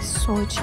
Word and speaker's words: Sochi: بعداً متوجه شدم که تلفظ درست سوچی هست.